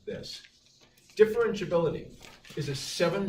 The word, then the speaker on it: differentiability: last page it should look something like this differentiability is a seven syllable word tip fur wrench bill and see